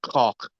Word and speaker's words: Koch: actually pronounced cock.